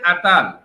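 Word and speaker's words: Attal: আসি তাহলে উত্তরটা হচ্ছে গ্যাব্রিয়েল আতাল হ্যাঁ বা কেউ কেউ আত্তালও বলেছেন যাই হোক গ্যাব্রিয়েল আতাল হচ্ছে সর্বকনিষ্ঠ প্রধানমন্ত্রী তাই না ফ্রান্সের ইতিহাসে মোটামুটি সর্ব কনিষ্ঠ প্রধানমন্ত্রী নামের উচ্চারণটা কিন্তু এ ডবলটি এ্যা তাহলে আমরা এই প্রশ্নের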